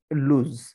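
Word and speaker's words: lose: L double S লুজ অনেকে এটাকে লস পড়ে থাকে এল এস লস বাট লস এটা কিন্তু ভুল pronunciation wrong pronunciation it's proper pronunciation is লুজ এখানে একটা সরি এখানে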